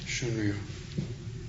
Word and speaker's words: Shunryu: Shunryu.